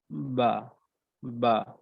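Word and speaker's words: باء: বা টা উচ্চারণ করি বা হচ্ছে দুই ঠোঁটের ভেজা জায়গা থেকে একদম ঠোঁটের যে ভেজা অংশ আমরা জানি ওই অংশ থেকে উচ্চারণ হবে বা অর্থাৎ দুই ঠোঁটকে আমি একদম সিম্পল নরমালি দুই ঠোঁট আমি একত্রিত করব এরপর আমি উচ্চারণ করব বা বা আর আমি যখন মিম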